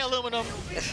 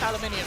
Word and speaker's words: aluminium: I said aluminium for the international folks at home. All right. Americans say aluminum. International things, it's aluminium.